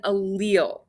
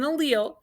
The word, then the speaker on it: allele: use it quite often this is an allele so that's how you say it not like patrick and spongebob that goes a little so this is an allele and this is the